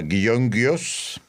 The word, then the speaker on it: Gyöngyös: Bueno, empezaremos diciendo que László Polgar nació en 1946 en un lugar de Hungría de cuyo nombre prefiero no acordarme porque se pronuncia Gyöngyös.